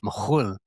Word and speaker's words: McKhool: jigs and reels, but actually McKhool would have been pronounced McKhool in Kaframishki, Lebanon, where my ancestors are from.